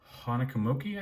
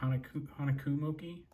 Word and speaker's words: Honekumoki: Honekumuki, I think is how you say it. Honekumuki.